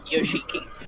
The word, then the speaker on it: Yoshiki: like this one's Yoshiki, it was spelled like Yoshi cheeky, but it was still pronounced Yoshiki.